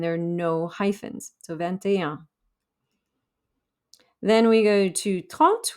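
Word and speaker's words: vingt et un: means and and there are no hyphens so ventaya then we go to taunt which is 30.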